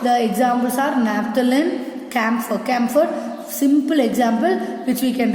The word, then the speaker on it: camphor: Camphor, this H also silent.